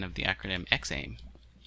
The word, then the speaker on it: XAIM: So I'm going to say it's XAIM.